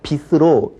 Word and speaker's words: 빛으로: 빛으로 머리를 빗다. 자, 빛으로 이렇게 발음을 해야 되겠죠.